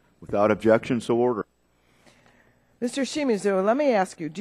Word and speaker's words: Shimizu: Shimizu, am I saying it correctly?